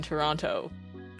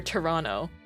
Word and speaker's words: Toronto: Did you know that Toronto is pronounced without the second T?